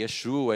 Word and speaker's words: Yeshua: Não tem, assim, é maravilhoso a gente pegar nossas raízes, ver como que Yeshua é a pronúncia, como eles faziam, mas se você falar Jesus, ele entende do mesmo jeito, tá?